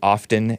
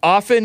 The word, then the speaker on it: often: some people pronounce it often demonstrated no the t is silent it's often demonstrated anti-Semitism and he